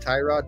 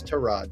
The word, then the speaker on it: Tyrod: it correctly James S just like Tyrod Taylor is not Tyrod Taylor it's trod Taylor it's tood Taylor he